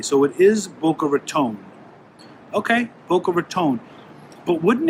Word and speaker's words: Boca Raton: So it is Boca Raton.